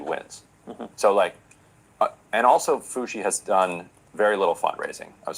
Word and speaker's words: Foushee: How do you say it, Foushee or Fouchier? Foushee.